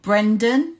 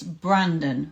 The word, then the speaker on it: Brandon: It's not Brendan from Clear Minds, it's Brandon from Clear Minds.